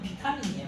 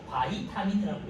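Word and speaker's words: vitamin: 뭐 잘 아시겠지만 원래는 옛날 이름은 비타민이에요. 그런데 거의 표기법이 바뀌어 가지고 여러분 대정부터는 바이타민이라고 읽어요. B를 바이로 읽어.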